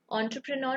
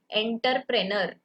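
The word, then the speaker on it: entrepreneur: करते कैसे करते हैं, देखो, एंटरप्रेन्योर ना एक फ्रेंच वर्ड है, तो फ्रेंच लोग इसको प्रोनाउंस कैसे करते हैं मैं आपको ये बताती हूँ, आप प्लीज हंसना मत मुझ पे। एंटरप्रेन्योर, इस तरीके से वो लोग प्रोनाउंस करते हैं, ठीक है। लेकिन हम लोग हमारे यहाँ पे कैसे बोलते हैं आपको पता है, एंटरप्रेनर।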